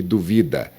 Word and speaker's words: duvida: Por exemplo, dúvida e duvida. Dúvida é um substantivo, duvida é um verbo, ele duvida.